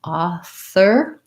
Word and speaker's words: author: for ah ah thur you wanna make sure excuse me that your tongue is between your teeth author and even though this says or it's an er sound just an er author versus offer your f sound you